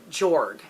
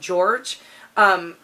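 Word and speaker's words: Jorg: in the head of Joerg it's it's spelled J o RG but I've heard people say that it's pronounced George but he's a prince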